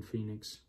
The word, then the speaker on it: Fynyx: phoenix love phoenix but listen how it's spelled it is spelled f y n y x phoenix that's how i would say if somebody if i saw that i'll be like oh it's it's phoenix um or finitex that